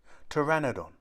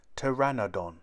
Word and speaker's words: pteranodon: winged and toothless how do you say it pteranodon say pteranodon a pteranodon is bigger than a hand glider